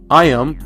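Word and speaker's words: Iam: McDonald's dog and finally I am spelled like Ian but I am am I am hungry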